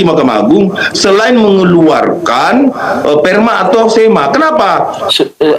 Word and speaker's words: Perma: Sudah jelas ya, Perma ya, bukan sperma ya.